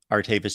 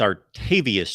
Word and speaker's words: Artavius: kylo Ren Miami Kane I like artavis Jones but it's our tavius Jones correct I mispronounced that I like artavius Jones